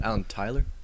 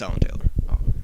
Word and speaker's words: Alan Taylor: It's directed by Alan Taylor, who did a lot of Game of Thrones episodes. Oh. But he also did Terminator Genesis. Is it Alan Tyler? No, it's Alan Taylor.